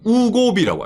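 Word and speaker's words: Wegovy: 자, 한국에서 화제죠. 위고비. 일본에서는 우고비라고 합니다. 예, 우고비. 발음이 좀 그렇죠. 위고비가 어떻게 우고비가 되냐 이래가지고 있잖아.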